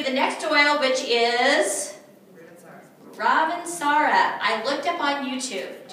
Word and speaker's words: Ravensara: And Ravensara is a French word, and you have to say it like you're French. You have to say Ravensara. Everybody say that with me. Ravensara.